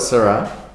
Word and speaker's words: Shiraz: now we're going to look at a couple of different Shirazes, or is that how am I pronouncing it? Shiraz. Shiraz. No. Shiraz. So we call it Shiraz.